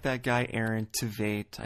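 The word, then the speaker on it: Tveit: back to me I I compared Mike Kalinowski to a lesser known actor by the name of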